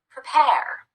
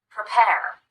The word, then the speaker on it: prepare: as far as spelling because this syllable is completely unstressed we cut the vowel and use What's called the unstressed vowel or the schwa which again we'll learn